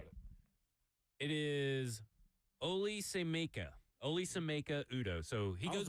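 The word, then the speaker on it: Olisaemeka Udoh: Oli Semeka Udo.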